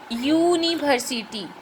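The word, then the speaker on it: university: लेकिन थोड़ा ध्यान दीजिए, इसका उच्चारण होगा यूनिवर्सिटी, यू, यौ, है ना, यौ आपका स्वर ध्वनि है नहीं, यौ आपका व्यंजन ध्वनि है, इसीलिए यूनिवर्सिटी के पहले क्या लगेगा?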